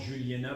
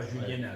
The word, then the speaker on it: Juliénas: On prononce Juliénat, pas Juliénas. Voilà, Attention.